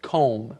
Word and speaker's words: comb: at the end c o m b but you don't say the b just com yes it's one of those interesting words in English with a letter that we don't actually say but you must write that b now you can use